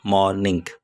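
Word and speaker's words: mourning: play की शान है जो वर्ड मॉर्निंग इट्स मॉर्निंग एक मॉर्निंग होता है जिसको सुबह कहते हैं लेकिन ये उसके स्पेलिंग थोड़े चेंज इसके वर्ड के ऊपर थोड़ा जोर देना पड़ता है इट्स मॉर्निंग मॉर्निंग कहता है कि जब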